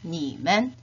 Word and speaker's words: 你们: 1인칭 我 우리들 我们 2인칭 你 너희들 你们 3인칭의 그 또는 그녀는 발음은 같다고 했죠? 타, 그 다음에 그들, 他们 이렇게 표현할 수가 있겠죠. 빠른 속도로 3번만 따라 발음해 보도록 하겠습니다. 我, 我们, 你, 你们, 他, 他们 다시 한번 我, 我们, 你, 你们,